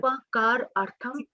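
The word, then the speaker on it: upakārārtham: So we won't pronounce that a after r. You will do that. Upakar artham.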